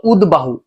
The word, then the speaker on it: উদ্বাহু: এখানে দর সাথে বফলা, উদ্বাহু। দর সাথে বফলা যুক্ত হলে দর উচ্চারণ হবে, বফলার উচ্চারণটাও হবে। তাহলে আমি হ্রস্ব দিলাম এই যে, এরপরে দ আর ব, যেহেতু দর উচ্চারণ হবে বর উচ্চারণ হবে, তাই এই যে দ,